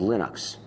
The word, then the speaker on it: Linux: lonus and I really don't care how people pronounce my name but Linux is always Linux he developed a kernel and